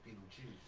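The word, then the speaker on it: Betelgeuse: It's still pronounced Beetlejuice.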